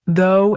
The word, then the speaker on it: though: The words though and through sound so similar, but they look so different. It's so confusing when you're learning to pronounce them. Though has that o sound like in go, but through has the ooh sound like in food.